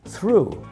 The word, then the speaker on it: through: Through, it's an oo sound. Yes, through, like in the word shoe, oo.